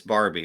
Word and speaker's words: Barbay: I butchered Kevin's name did I say Barbe and it's Barbie right uh yeah I think it is Barbie okay but it looks like it looks like Barbe so I think we're